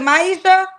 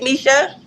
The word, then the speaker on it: Misha: Okay, my saying is it Maisha? It's Misha. Misha, okay.